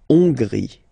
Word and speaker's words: Hongrie: So remember, H doesn't exist, so you don't pronounce it. So it starts with O-N, on, and then gris, final E, not pronounced. La Hongrie.